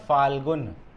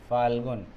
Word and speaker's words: फाल्गुन: ये फागुन का जो महीना है, ठीक है, इसको शुद्ध उच्चारण क्या है इसका? फाल्गुन, आधा ल ग न, फाल्गुन, है ना, फागुन लिखा है।